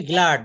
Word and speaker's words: glad: গ্ল্যাড না, উচ্চারণ হবে গ্লাড।